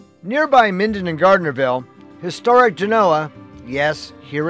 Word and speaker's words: Genoa: Nearby Minden and Gardnerville, historic Genoa, yes, here it's pronounced Genoa, was Nevada's first European settlement, although it was part of the Utah Territory at the time.